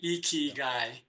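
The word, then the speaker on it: ikigai: k i g Ai and the eyes are pronounced e eeky guy and it means uh doing what you were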